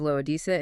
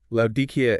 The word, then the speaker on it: Laodicea: If you listen to the English pronunciation of Laodicea, it sounds like it ends in a vague or ah sound.